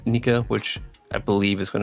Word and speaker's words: Nika: And then we have Grin, which is looking to be translated or roughly pronounced as Nika, which I believe is going to tie to Sun God Nika.